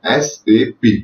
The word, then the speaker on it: SAP: तो मैं स्टार्टिंग से सैप सैप करके इस कोर्स को या फिर इस चीज को प्रोनाउंस कर रहा हूं, बट इसको ऐसे प्रोनाउंस नहीं किया जाता है। इसको प्रोनाउंस किया जाता है SAP, system application products and data processing. सैप एक गलत तरीका है, तो आपको कभी भी अगर इसको प्रोनाउंस करना होता है तो आप इसको SAP ही कहें।